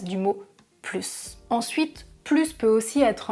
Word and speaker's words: plus: Par exemple, si je vous dis « parle un peu plus doucement ». Ici, je répète, je ne prononce pas le S parce que doucement est un adverbe qui commence par une consonne.